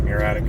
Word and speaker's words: muriatic: basically muriatic acid muratic spelled muriatic but I think it's pronounced muratic acid which is like just